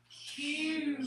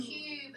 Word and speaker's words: cube: Cube. Cube. Stretch it. Cube. And make it. Cube. Cube. E. E makes the U say U. It says its name. Cut it with a macron, and E is silent.